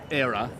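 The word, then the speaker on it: Éire: The Flowers are very strongly linked to the Green and to Era as it's pronounced.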